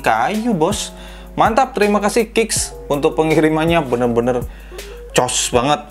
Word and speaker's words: Kickz: Kemudian di sini ada logonya Kicks ya, KICKZ, Kicks mungkin bacanya gitu.